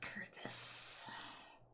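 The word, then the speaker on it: Coerthas: It's pronounced Kurthus.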